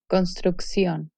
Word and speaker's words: construcción: The double C is pronounced X as in accent. Inyección, construcción.